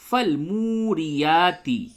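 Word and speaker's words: فالموريات: فل موری یا کھڑا زبر یا تاز تی، فل موریاتی، فل موریاتی، قاف دال زبر قد، ح الف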